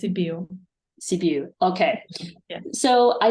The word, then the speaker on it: Sibiu: Yes, it's Sibiu.